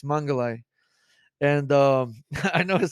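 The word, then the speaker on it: Mengele: I say this right it's mangalai and um I know it sounds [ __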